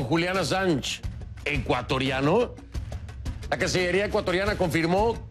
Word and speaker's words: Assange: Se escribe con doble S, Assange, fonéticamente, ¿no? ConcluAssange con doble S, pero es ConcluAssange.